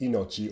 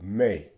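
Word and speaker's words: 命: the uh character itself it's pronounced inochi or when you combine it with other characters the pronunciation changes to mei so for example here's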